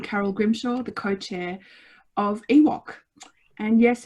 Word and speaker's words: EWOWC: grimshaw the co-chair of ewok and yes it is pronounced just like the george lucas creature we would also like